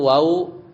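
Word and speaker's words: وَ: huruf-huruf jar, atau misalnya huruf wa ya bil fathah bacanya wa ya dengan fathah artinya dan.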